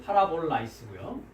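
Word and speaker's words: παραβολαῖς: 자, 비유라고 적어냈는데 비유라는 단어 한번 발음해 보시겠습니까? 예, 위에 거는 이제 역격 복수로 되니까 이제 파라볼라이스고요.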